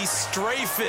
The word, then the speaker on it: Strafen: It was held in mid-December, and your winner, IB Straffen, or is it IB Strafen? You've got the pronunciation guy. IB Strafen. Strafen. My bad, Mr.